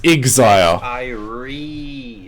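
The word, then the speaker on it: Xier: it's pronounced it's pronounced exile it's pronounced exile yeah whatever whatever whatever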